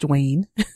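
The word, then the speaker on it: Dwain: the program director, Dwayne, who has an interesting spelling, D-W-A-I-N, but it's pronounced Dwayne.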